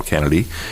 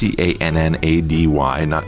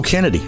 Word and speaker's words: Cannady: Once again, we're talking to Officer Carl Cannady. And that's Cannady, not Cannady. I'm sure you've seen it spelled like. Most of the time it's pronounced, people go, oh, Cannady. No, Cannady.